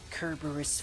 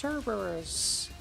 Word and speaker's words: Kerberos: Kerberos fire. It's pronounced Cerberus.